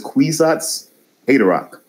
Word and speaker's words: Kwisatz Haderach: Otherwise known as Kwisatz Haderach. You're the only person that ever pronounces that correctly.